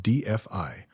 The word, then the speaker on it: DeFi: With the 2026 scaling upgrades, we're seeing an explosion in DeFi, pronounced DFI, where smart contracts handle everything from real estate to global insurance.